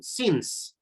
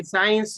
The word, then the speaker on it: since: signs the mid okay remember pronunciation since since it's not science okay since if you say science you are almost like science okay then we have